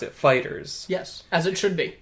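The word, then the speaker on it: FighterZ: And because it's Dragon Ball Z, they replaced the S with a Z. But you Yeah. would still pronounce it Fighters.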